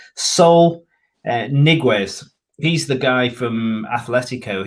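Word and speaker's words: Saúl Ñíguez: heading for the premier league and that soul pronounce it right sol niguez he's the guy from athletico he's he started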